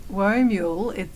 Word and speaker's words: Whoa Mule: So Woe Mule, we've had a lot of strange pronunciations over the years, but it's like whoa, like as if you're riding a mule or a horse.